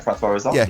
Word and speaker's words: François Ozon: gay love story too, but it's directed by François Ozon. Have I got the pronunciation right? You're a big fan of the director? You got that spot on, yeah, François Ozon.